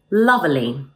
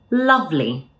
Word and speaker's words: lovely: You may pronounce this word as lovely, which native speakers will understand, but it sounds a bit unnatural. Instead, let's drop the E sound in the middle and say lovely.